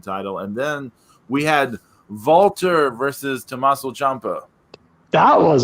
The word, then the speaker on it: Walter: Look up how the W is pronounced in German. You will see I'm pronouncing it correctly.